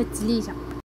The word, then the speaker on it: التليجة: بالنسبه ملي كنبغي نطق التليجة كنقول لها الكليجة، كيقول لي الناس راه سميتها التليجة.